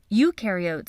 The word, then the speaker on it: eukaryote: nucleus no membrane-bound organelles eukaryotes on the other hand remember you rhymes with dew and they do have